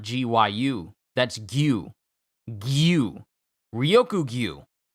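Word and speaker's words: Ryokugyu: But I've been saying Ryoku Gyu's name wrong all these years. Gyu is G-I-U-U. G-I-Y-U. Not G-Y-U.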